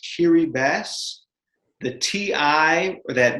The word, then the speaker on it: Kiribati: now it is pronounced kiri bass the ti or that that t in the ti is actually pronounced like an s i still to this